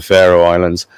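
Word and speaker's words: Faroe Islands: the Pharaoh Islands uh spelled with an F but they sound very like the Pharaoh Islands so it could be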